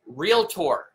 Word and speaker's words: Realtor: I was talking about that word is real tore they are Association members of the Board of Realtors it's two syllables this is huge you